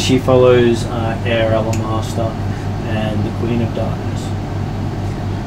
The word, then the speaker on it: Elemaster: She says she follows Air Elemaster and the Queen of Darkness.